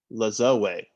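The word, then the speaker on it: Lajoie: i've always been curious how to pronounce this name but it's nap la zoe yes it's fred it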